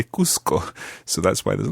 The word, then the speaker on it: Cusco: much more normal in Cuzco to say Cusco. So that's why there's a little bit of confusion there. But Cuzco in Spanish pronunciation, but in Peru, it would be called Cusco.